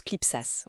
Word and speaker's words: CLIPSAS: On prononce CLIPSAS, oui, qui est le centre de liaison et d'information des puissances maçonniques, signataire de l'appel de Strasbourg de 1961.